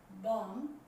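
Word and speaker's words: bomb: इसका मतलब ये हुआ कि अगर ठीक बी से पहले एम आ जाए तो बी साइलेंट रहेगा। ये कह सकते हैं एम के बाद बी हमेशा साइलेंट रहेगा, बोला नहीं जाएगा।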